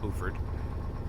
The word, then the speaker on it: Beaufort: of bord South Carolina We spelled the same as bord but they call it boord this is ladies Island